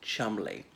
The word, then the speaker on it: Cholmondeley: frankie for these sort of occasions so incidentally Chumley is spelled calm on delay but pronounced Chumley so um on this woman Rose hand raised